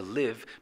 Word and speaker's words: live: To live, the E is silent, which means that you don't hear it.